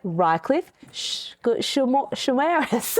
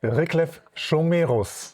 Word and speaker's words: Riclef Schomerus: So joining us on the pod today for the very first time, welcome Reichliffe Shares. I panicked in the last minute. Say your surname again. Rick Shiros.